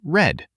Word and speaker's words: read: It's spelled the same but sounds different. Read becomes read. Sounds like red.